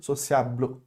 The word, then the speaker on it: sociable: Tipo, eu não vou falar o E, mas vai morrer tipo no L. Sociable, ok?